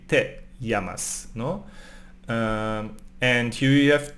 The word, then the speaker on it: llamas: The double L in Spanish sounds like y, llamas, no?